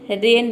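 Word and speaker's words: rain: रेन में देखिए केवल हम आर ए एन को प्रोनाउंस करते हैं। आई साइलेंट रखते हैं। इसमें आई को प्रोनाउंस नहीं करते हैं। आर ए एन ये हो गया आपका रेन।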